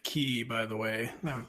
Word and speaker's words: Quay: Quay Walker needs the Irish pronunciation of Quay, which is, I believe, key, by the way.